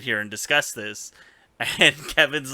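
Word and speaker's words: Kevan: a good leader too I hate that his name's Kevin but it's spelled weird isn't it Kevin with an A but it's still like yeah but it's still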